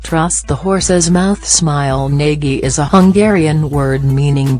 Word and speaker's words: Nagy: The proper pronunciation has the A sound from wall, and the G is a letter in the Hungarian alphabet that doesn't exist in English.